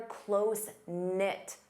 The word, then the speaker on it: close-knit: You can say they're close-knit. Notice the K is silent.